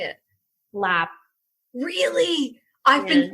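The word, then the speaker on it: larb: Like they spell laap l a r b a lot of times and that's because a British person wouldn't pronounce that r.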